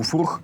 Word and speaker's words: Furch: Furch именно так читается, вот здесь буква F, чтобы вы не забывали, что за бренд.